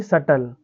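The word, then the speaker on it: subtle: यहां देखिए बच्चों टी के पहले बी आया है तो क्या पढ़ेंगे इसको एस यू टी एल ई यानी सटल ऐसे यहां पर डी ई टी डेट हो गया बी का कोई कहीं पर उच्चारण ही नहीं हुआ तो बच्चों यह हम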